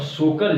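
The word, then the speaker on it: Tso Kar: जापानी Chinese word है जिसमें जो है पहला अक्षर यानी टी से लिखा जाता है इंग्लिश, लेकिन टी साइलेंट होता है, इसको सोकर पढ़ते हैं।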